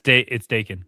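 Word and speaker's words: Daken: It's Dacan.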